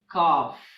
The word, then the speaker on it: calf: In English, there are some monosyllabic words that end with LK, LF, and LM that have the silent L. For example, walk, talk, calf, half, palm, and calm.